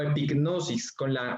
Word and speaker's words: epignosis: La segunda palabra que se utiliza en griego para hablar de conocimiento es la palabra epignosis o epignosis, pronunciando la G más marcadamente.